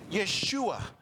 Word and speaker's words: Yeshua: They had the same name, pronounced Yeshua in Hebrew.